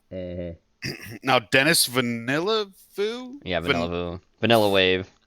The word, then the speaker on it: Villeneuve: Now, Dennis Villeneuve, Yeah, Vanilla Wave, fucking Jenny taught us how to pronounce it at one point, but Vanilla Va. I always call it Vanillava. It's not V- how. She said I was putting too many syllables in there, but It doesn't I matter.